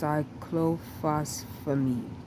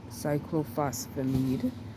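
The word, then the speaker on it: cyclophosphamide: called cyen or um the longer name is pronounced cyclophosphamid cyclophosphamid another one is V Kristen V Kristen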